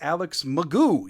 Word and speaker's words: McGough: Also, quarterback Alex McGough. Yeah, that's actually how you say it. I was right yesterday.